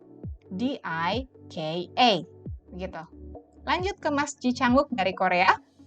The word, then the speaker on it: Ji Chang-wook: 5 suku kata dalam nama ini, jadi kita membacanya R-A-D-I-T-Y-A, D-I-K-A, begitu. Lanjut ke Mas Ji Chang-wook dari Korea, J-I-C-H-A-N-G-W-O-O-K, Ji Chang-wook, 3 suku kata.